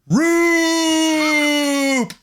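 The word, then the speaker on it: Roupp: away from him by a man whose name rhymes with poop. Roop!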